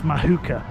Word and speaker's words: Muhaka: and I finally learned how to say it's mahuka mahuka mooka mahuka mooka this place also has